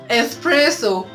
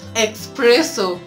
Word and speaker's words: espresso: you I got you we say espresso not expresso yeah it's actually coffee